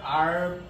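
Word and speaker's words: hour: এখন আমরা কয়েকটা এক্সেপশনস দেখি এন এর জন্য, যেমন হচ্ছে অনার, আর, ইয়ার। এরা হচ্ছে কনসোনেন্ট দিয়ে শুরু হয়, কিন্তু কনসোনেন্ট দিয়ে শুরু হলে এদের উচ্চারণগুলো হয় ভাওয়েলের মতো, এই কারণে এদের আগে এন ইউজ হয়। এখানে এইচটা হিডেন থাকতেছে।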